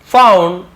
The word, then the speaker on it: fond: यहाँ पे fond होगा ना, found नहीं fond है। देखिए यू रहता है तो फाउंड होता है ना, तो थोड़ा सा कई बार स्पेलिंग में आपको धोखा हो जाता है, बोलने में से मैं ही फाउंड बोल दिया, बट ये फॉन्ड है।